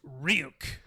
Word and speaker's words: Ryuk: that's like one percent of the movie that's pronounced ryuk before you get any funny ideas there are